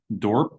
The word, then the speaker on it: Dorp: Is it Dorpe or Dorp? I'm not sure, but when you pronounce it, work on it. What is your last name pronounced? Dorp, simply Dorp. Dorp.